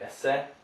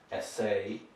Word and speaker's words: essay: So resume, cafe, essay, so you've got a long A sound here. So don't say esse, say essay.